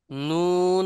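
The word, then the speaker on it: نون: শুনছেন বলেন হ্যালো বলছে জিহ্বার প্রান্তকে শেষ শেষ অংশকে বুঝাচ্ছে প্রান্তকে উপরের মাড়ির সাথে লাগাইয়া পাশাপাশি নাকের বাঁশি থেকে উচ্চারণ হয় ভালো করে বোঝেন জিহ্বার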